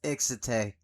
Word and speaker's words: Excite: Excite. Excite. Or the way it's pronounced in in Japan is exite.